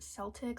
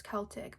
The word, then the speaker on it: Celtic: I called it Celtic, like with an S instead of with a K.